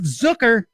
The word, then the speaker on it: Zucker: sit down with jeff zucker rhymes with hooker the head cheese over